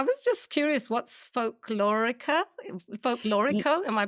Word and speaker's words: folklorico: Folklorico. Am I pronouncing that correctly?